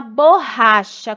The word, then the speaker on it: borracha: O chá é o CH com som de X, né?